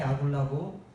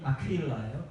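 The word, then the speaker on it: Aquila: 원래 본명이 아퀴일라예요. 아퀴일라. 영어 성경도 사람들 이름이니까 그대로 따서 아퀴일라 그 철자 발음으로 사용합니다. 우리도 그래야 돼요. 사실은 이름을 막 우리 거로 바꿔서 이런 사람들은 존재하지 않아요. 아퀴일라는 존재했지만 아굴라는 없어요.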